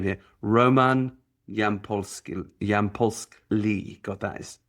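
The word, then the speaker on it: Yampolskiy: Yamp like that's the easy bit. Y M P Y A P and then P. Oh no, it's Pski with an I before the the Y. Yampolski.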